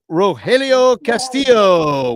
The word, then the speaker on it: Roelio Castillo: Here's Roelio Castillo. Welcome to the Bleacher Bunch. Am I saying your name correctly? Yes, you did. You pronounced it perfectly and thank you for having me on.